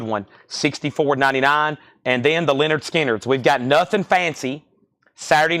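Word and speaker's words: Lynyrd Skynyrd: Productions $44.99 and then Leonard skinnard pronounced Leonard skinnard 64.99 all right Judith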